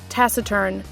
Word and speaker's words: taciturn: turn okay man they really updated the Google pronunciation thing taciturn I'm expecting it to be like Tac turn